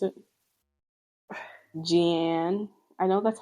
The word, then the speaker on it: Jeanne: Just say French, in France, we pronounce it as Jeanne. Jeanne, okay.